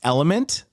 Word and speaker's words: LMNT: about um uh yes lmnt is pronounced element today I learned I